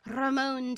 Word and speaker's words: Ramon: like telling the team how I pronounce Ramon. I said Ramon Deor. I roll my R's, and then he made